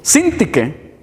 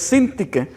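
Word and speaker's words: Síntique: Sintique, lleva acento en la I al principio, entonces Sintique.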